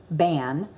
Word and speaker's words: bean: word banshee spelled b-e-a-n our way would be bean but they pronounce it ban and s-i-d-h-e she so